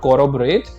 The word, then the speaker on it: corroborate: Next word is corroborate. Now try to understand the pronunciation. It's not corroborate, it's corroborate. Rob के ऊपर हमें थोड़ा सा stress देना है.